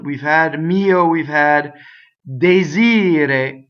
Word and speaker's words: desir: So the accent is on the E. So the ire, right, is the stress. Ire, desire. So the E is closed going into that, right? And rolled R at the end if you're going to truncate the E. So desir.